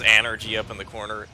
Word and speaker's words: Anergy: And yeah, it says Anergy up in the corner. That might not actually be a typo, because they pronounce it that way, and it's spelled that way pretty consistently.